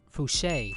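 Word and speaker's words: Fousheé: I don't know how to pronounce her name. Fouché, that's her name.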